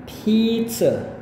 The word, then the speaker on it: pizza: Sedangkan kalau Anda mau ngomong dengan lebih per syllable, maka yang tepatnya adalah pizza, ya, bukan sa.